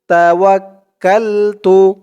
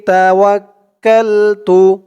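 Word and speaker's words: تَوَكَّلْتُ: তা তা পেশ তু তাওয়াক্কালতু আলাইহি তাওয়াক্কালতু তাওয়াক্কালতু এই চিহ্নতে থামলে এখানে উচ্চারণ হবে তাওয়াক্কাল তাওয়াক্কাল মানে এই কাফ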